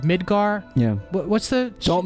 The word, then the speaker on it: Midgar: what was it called Midgar yeah what's the don't mispronounced that when I learned that the hard way the last time oh you want to get some Midgar make sure you pronounce the D hold on hold on